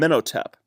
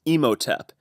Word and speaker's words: Imhotep: his vice our and menno tap so let's look into a minute at I'm sorry I'm pronouncing that incorrectly it's Imhotep as in the Imhotep from